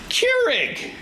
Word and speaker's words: Keurig: It's K-E, so I was like, K, and then U-R-I-G, rig. So I was like, Keurig.